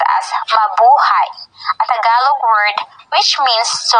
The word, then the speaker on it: Mabuhay: of welcoming Partners in the country Babu have pronounced as Mabuhay yellow word which means to like or long